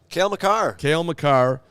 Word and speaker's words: Cale Makar: Cale Makar, yeah. Which we talked about in the show because he said that actually that wasn't a trip. I just fell, and he outed himself. Cale Makar was more than likely worried that after the